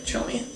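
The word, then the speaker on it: Tshomi: good conversation starter, too, because Chomi is obviously not, like, a normal dog name in the States. People look at it because it's spelled T-S-H-O-M-I, and so they look at the spelling of it, and they're like, what is that?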